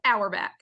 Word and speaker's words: Auerbach: So Auerbach. In fall, you say your clock's an hour back, but honestly, some of the family says it different ways, so it's pretty flexible.